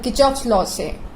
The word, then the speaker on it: Kirchhoff: आज के टॉपिक मतलब किर्चॉफ्स लॉ से। इसको लोग किर्चॉफ्स बहुत सारे प्रोनाउंसिएशन होता है बट एक जर्नल सा इसको प्रोनाउंस करने का तरीका है किर्चॉफ्स लॉस।